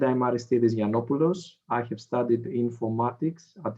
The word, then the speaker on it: Giannopoulos: Next one is Aristidis Giannopoulos. I hope I pronounced your last name correctly.